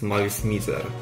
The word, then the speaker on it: Malice Mizer: The name Malice Mizer stands for Malice and Misery. So yeah, it makes sense that it will be pronounced as Malice Mizer. That's also how the band members pronounce it.